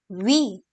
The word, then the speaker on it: huit: And here comes 8, which is called as huit.